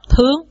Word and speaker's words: thượng: Nhưng mà sơn thượng với là thượng sơn là ta đọc thướng.